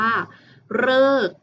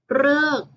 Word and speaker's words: ฤกษ์: จะ เป็น คำ ที่ อ่าน ออก เสียง เรอ นะ คะ หรือ เรือ ต้อง บี อยู่ เพียง แค่ คำ เดียว นะ คะ เด็ก ๆ นั่น ก็ คือ คำ ว่า ฤกษ์ ฤกษ์ ที่ มี ตัว รอ